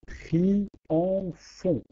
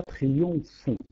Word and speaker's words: triomphant: Pour maintenir les alexandrins, il faut prononcer triomphant pour avoir trois syllabes et non pas triomphant.